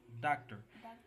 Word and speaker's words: doctor: dark and then turn so the word is doctor please you have to pronounce the duct higher than the term very good so this